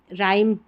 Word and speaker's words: rhyme: राइम और रिदम, राइम जो poem रहती है वो, तो राइम की स्पेलिंग याद कर ले कि RHYME, और रिदम में RHY और THM, ठीक है, इसको याद कर ले। यहाँ पर H साइलेंट है।